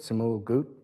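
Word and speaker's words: Ts'imil Guut: the ancient principle of Tisumul Gut. He told me how to pronounce it, Simul Gut, and has worked extensively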